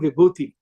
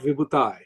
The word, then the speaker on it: Vibhuti: I am Vibhuti, I am not Vibhutai.